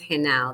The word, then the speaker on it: Genao: It's pronounced halo. The G is an H sound.